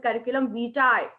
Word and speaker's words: curriculum vitae: it is not vt it is curriculum vitae you call it no